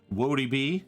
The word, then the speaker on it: Woadyb: what's up everybody I'm wody B easiest way to remember that is whoa he easiest way to to